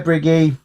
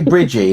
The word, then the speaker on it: Briggy: Yeah, but I hear other people say Bridgie, and it's like, but there's no D or anything like that.